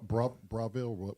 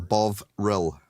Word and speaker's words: Bovril: Broville, whatever. Bovril. Bovril. Bovril. Jesus. And you guys make it so difficult to pronounce.